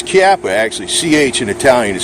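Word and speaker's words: Chiappa: you know they got army army sport Italian japa chap has been sold out where it's kappa actually CH an italian is spelt is actually pronounced k it's kappa kappa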